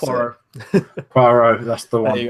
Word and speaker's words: Poirot: They're moving forward with the adaptation of Death on the Nile, another Hercule Poirot, wherever you pronounce it. Poirot, that's the one.